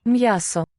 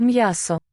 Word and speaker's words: м'ясо: М'ясо. Miaso. Молоко. Not just miaso, but М'ясо. which seems to be syllabic. М'ясо. Miaso. So 3 syllables, if I'm hearing it right.